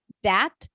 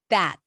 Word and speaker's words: that: the, this, that, those, is often pronounced as a dental D, which is actually a D on the teeth. So it's not that. Can you hear? It's not da, that, but that.